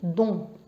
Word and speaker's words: dont: Donc bien prononcé, c'est un ON, donc qui sort du nez, dont. Pour le différencier de dans, qui est fi.